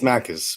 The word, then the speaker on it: Makis: It's Makis, but thank you very much for having me on.